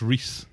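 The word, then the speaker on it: Rhys: I think it's Reese.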